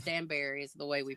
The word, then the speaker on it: Danbury: some people say it Dan danber or it's Danberry is the way we pronounce it Alex over there that Dan second